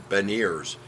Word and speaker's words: Beniers: There's no R. It's Beniers. Beniers. Like you get with your teeth, right? Yeah. Beniers. That's Veniers. Oh. Okay. Gotcha. This is a B, not V.